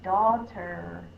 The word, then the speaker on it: daughter: out in these words the next word is daughter d a d d d my tongue is